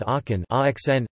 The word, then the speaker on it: Aachen: The word arken arcs is thus pronounced acn, which makes a minimal pair with aken axn, making the difference between c and x phonemic, rather than just allophonic, for these speakers.